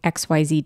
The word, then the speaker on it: Aix: yeah let's get into X because this is a special place guide so first thing if you look up X it's spelled a iix it's pronounced like the letter X it was founded by